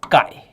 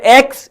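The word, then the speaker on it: χ: This is pronounced as kai. CH hi Kai. It's not X, it is Kai represented by this.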